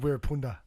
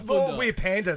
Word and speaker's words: Wirrpanda: There's a roll of the Rs in there if you really want to get it right, but I'm not going to try because I'll I'll mess it up. Wirrpanda.